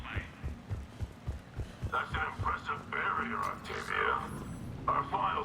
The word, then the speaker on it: Octavia: That's an impressive barrier, Octavia. Our file says you've been working on shield technology. It's a handheld multi-core solution based on psychological barrier technology. And it's pronounced Octavia.